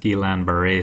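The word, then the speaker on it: Guillain-Barré: example of an autoimmune poopy is called the gilan baret syndrome I've heard this pronounced a bunch of different ways but I've been told that it's pronounced gilan baret syndrome and these are also some people's names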